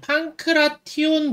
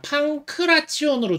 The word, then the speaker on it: 판크라티온: 가야 되는데, 제가 그간은 이 판크라티온 부분을 제가 판크라치온으로 주로 읽어왔거든요. 판크라치온이라고 읽어왔는데, 이게 이제 일본 표기가 이래요. 일본 표기가 이제 판크라치온으로 하고 있어서, 이제 그간 그냥 저도 습관적으로 판크라치온 이렇게 읽어왔었는데, 이게 한국에서 이제